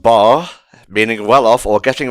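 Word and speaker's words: 八: It's pronounced bar, meaning well off or getting rich in a short time.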